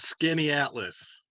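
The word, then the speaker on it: Skaneateles: little help it's it it's not like it's spelled skinny atlas skinny out scanias the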